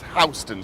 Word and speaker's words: Houston: And though it's spelt the same way as the big city in Texas, Houston, it is Houston Street.